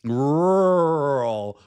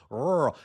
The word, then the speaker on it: rural: Rural. Rural.